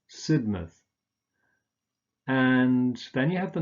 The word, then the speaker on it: Sidmouth: Again, you just pronounce a schwa here, an sound, rather than mouth. So Bournemouth, Plymouth, Sidmouth.